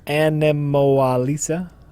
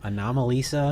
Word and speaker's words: Anomalisa: Animalisa. How do you pronounce that? Anomalisa.